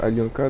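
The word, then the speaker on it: Алёнка: Alionka, ça s'appelle, ça se prononce Alionka.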